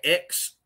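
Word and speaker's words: Aix: called X Outdoors uh it's spelled a i x Outdoors but pronounced X um it is named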